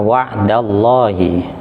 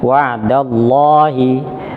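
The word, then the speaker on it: الله: dhammah atau fathah, maka lafaz Allah ini vokalnya terdengarnya suara O yang disebut dengan tafkhim. Tafkhim. Tafkhim. Misalnya kebetulan di sini wa'da. Contohnya wa'dallahi. Lafaz Allah sebelum Allah ini harokatnya apa? Fathah. Maka membacanya wa'dallahi, bukan wa'dallah. Wa'dallah. Itu kalau vokal latinnya memang nulisnya A, tapi membacanya harus terbaca O.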